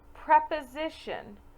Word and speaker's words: preposition: There are a couple words that have pre as our prefix. However, we actually pronounce them differently. For example, preposition. The word preposition is the part of the speech that comes before a position.